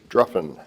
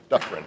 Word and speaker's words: Duffrin: This year, we're honoring Chris Druffin. I pronounced that wrong. Duffrin.